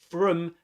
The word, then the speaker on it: from: From is pronounced with a schwa sound, as in phrases such as the tea, the tea, the tea.